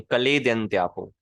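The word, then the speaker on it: क्लेदयन्त्यापो: Kiln नहीं, कलेद्यन्त्यापो।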